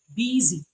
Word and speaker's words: busy: also have that sound represented as s in the word busy I've been busy all day not I've been busy I've been busy Z it's also in the